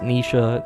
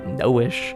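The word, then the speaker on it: Naoise: Yes, it is pronounced Nisha, not Noish.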